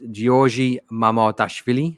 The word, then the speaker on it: Giorgi Mamardashvili: but listeners and viewers know I'm awful at pronunciations. But it's Giorgi Mamardashvili, I think is how you pronounce it.